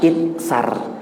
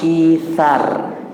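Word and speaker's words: إيثار: mereka, ithar, mohon izin, ini membacanya bukan itsar, membacanya ithar seperti itu, tapi ditulisnya itsar.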